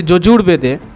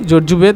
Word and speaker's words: যজুর্বেদ: অনেকে কে বলে যে যজুর্বেদে দুরকম উচ্চারণ হয় যজুর্বেদ অথবা যজুর্বেদ বইয়ে তোমরা পাবে দুরকম ভাবেই যেকোনো একটা বানান বা স্পেলিং উচ্চারণ বললেই হবে তো যজুবেদের অপর নাম